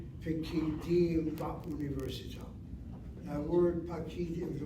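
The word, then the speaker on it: פקידים: It's not pakidim, it's pikidim. Question, why is it not pakidim? Again, the rule of the medium kamatz is either accented or one place removed.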